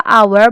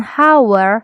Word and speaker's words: hour: vokal selanjutnya di our Kenapa hour bukan hower Indonesia memang cara baca yang tepat itu di Hour Hour Brarti yg